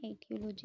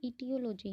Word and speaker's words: etiology: ईटियोलॉजी of panic attack, इसमें ETIO LOGY इसकी spelling ये है, गलत लिखी हुई है इसमें, एटियोलॉजी नहीं है वो, ईटियोलॉजी है।